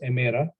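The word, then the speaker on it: ημέρα: uh with the sound keep in mind in the coordinate modern pronunciation is emera that's why you can you hear people greet each other in Greece as calamera Carlos is good or emera is uh day so kalamera is good day now vacuum plural would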